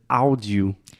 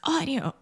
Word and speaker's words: audio: me a dollar every time a Brazilian says audio Felipe you and I do you guys say that we use you and then you were like it's audio audio oh yeah and now we say it correctly so imagine this a u combination in English most of the time these two sounds combine together and they produce the all sound so very similar to